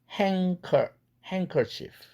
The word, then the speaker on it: handkerchief: 그런데 크가 연구개음이니까 앞에 있는 치경 은 사운드에게 나 닮아라 연구개음으로 바꿔라 해서 같은 4도짜리에 은과 같은 4도짜리에 사운드 응이라는 연구개음으로 바뀌죠. 그래서 handkerchief 이렇게 된 것입니다.